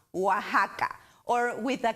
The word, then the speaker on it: Oaxaca: it's anglicizing spanish so x in spanish pronounces with an english h sounds like house oaxaca or with a k